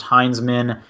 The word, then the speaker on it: Hinsman: My last name is pronounced Heinzman, and yes, it's weird misspelling my last name. I don't. Okay. It's spelled Hinsman.